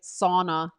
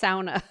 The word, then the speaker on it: sauna: handle and it's like the english-speaking world saying sauna right yeah and and then the cat the finnish cat is like sauna no it's sauna every time somebody says